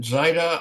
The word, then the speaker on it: Zyta: Zita? How do you pronounce it, Marinus? You got it, Zyta.